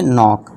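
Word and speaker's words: knock: नॉक।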